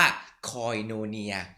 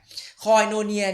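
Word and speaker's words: κοινωνία: ที่ แปล ว่า เอ๊ย ที่ อ่าน ว่า คอย โน เนีย คอย No เนี่ย ใน ภาษา อังกฤษ นะ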